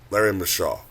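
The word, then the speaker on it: Larry Micheaux: I think it's Larry McCule. I forgot to pronounce his last name. Let me see. Okay, Larry Mashaw.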